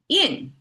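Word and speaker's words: 阴: Then yin, flat tone.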